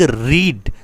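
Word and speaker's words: read: तो a novel is being रीड। देखो, रीडिंग का जो थर्ड फॉर्म होता है वो रीड, रेड, रीड ऐसे पढ़ा जाता है, बट वो होता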